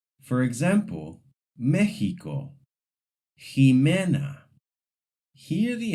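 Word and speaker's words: México: In some words, x sounds like a throaty H, similar to the Spanish J. For example, Mexico.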